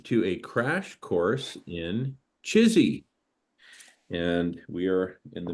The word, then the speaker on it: CHSI: human super intelligence and we pronounce it chizy that's how we pronounce the acronym and you can also